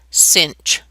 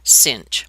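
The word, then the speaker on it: sinh: then an H after it and it's actually pronounced cinch don't ask me where the CH comes from but this is pronounced cinch okay well what would this graph look like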